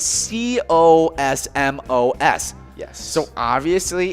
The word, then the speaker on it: Cosmos: into the cosmos yeah this galaxy theme galactic themed town might lend itself to a pronunciation similar to the space term but locals refer to the tiny town with a us sound at the end so cosmos hey well i i